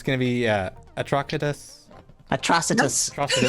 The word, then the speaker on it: Atrocitus: gonna be a talkative Atrocitus like atrocity I trust a test